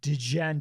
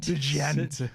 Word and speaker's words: Djent: I'm also the guy who keeps calling it Djent. Djent. Yeah, the hard D for no reason, I feel like.